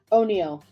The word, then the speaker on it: Onio: Onio. Onio. Okay. It's like Oreo, but it's Onio.